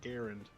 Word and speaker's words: Garand: of is it a Garand or is it a Garand oh God Garand but I'm American and I say garan well also once number